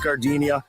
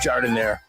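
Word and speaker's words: giardiniera: And guys, when you're at the counter, don't call it Gardinia. It's pronounced jardinire.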